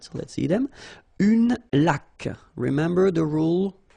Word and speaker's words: laque: Une laque. Remember the rule. When you get this QU, well, U is not pronounced, so you get k, like that.